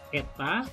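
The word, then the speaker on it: η: Ini bacanya eta ya.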